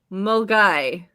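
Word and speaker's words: Milngavie: pronounced weems weems and the second one is pronounced mulgai oh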